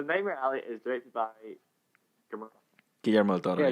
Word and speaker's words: Guillermo del Toro: So Nightmare Alley is directed by Guillermo del Toro. Guillermo del Toro. Yeah. I'll say it because you guys can't pronounce it. Guillermo del Toro.